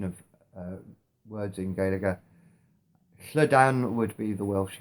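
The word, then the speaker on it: Gaeilge: the irish language itself galaga both letters are pronounced and you almost get a little empathetic vowel inserted in between them the tree most commonly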